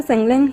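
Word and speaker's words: San Lang: और जैसे ही वो सनला बोलता है, गाइस सनलैंग की प्रोनाउंसिएशन ये लोग सनला बोलते हैं, लेकिन मैं सनलैंग ही बोलना पसंद करूंगी।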